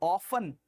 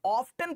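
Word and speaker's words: often: क्या पढ़ते हो उसको ऑफन। हमारे बचपन में ना, मेरे बचपन में अगर किसी बच्चे ने गलती से टी पढ़ लिया, ऑफ्टन पढ़ लिया, फिर मास्टर साहब बन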